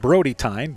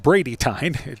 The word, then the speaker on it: Brady Tyne: I believe I said Brody Tyne, but it is pronounced Brady Tyne.